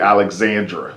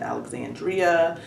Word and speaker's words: Alexandra: Okay, so I called you by your nickname, but your name is actually Alexandra. Correct. That's the correct pronunciation.